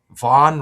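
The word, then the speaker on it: Vonn: There's a a that skier Lindsay Vaughn just got in a skiing accident. I got that decode coming up. Van rhymes with Dawn.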